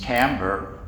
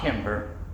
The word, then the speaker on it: timbre: One is, and the correct pronunciation in American English is timbre. It is not timbre.